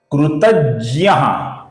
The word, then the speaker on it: कृतज्ञ: यह जो अक्षर है दोस्तों, यह ज और य एक आने से बनता है। इसका उच्चारण हम हिंदी में जी वाई ए ज्ञ ऐसा करते हैं। संस्कृत में इसका उच्चारण ज और य एक होने की वजह से ज्य ज्य ऐसा इसका उच्चारण होता है दोस्तों।